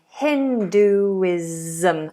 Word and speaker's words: Hinduism: Hinduism. Again, another Z sound. Most of the time when you have ISM at the end, it's going to be sounded as a Z. Zum, zum. Hinduism.